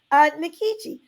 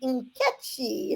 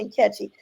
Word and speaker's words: Nkechi: So I started calling myself Nikichi. Little did I know until I went to college years later, HBCU, Howard University. Hey, that I was not pronouncing it correctly. It really would be Nkechi. It's a name from West Africa, Nigeria, and really should be Nkechi.